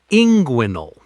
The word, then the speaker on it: inguinal: It looks strange on paper, but the common American medical pronunciation is inguinal.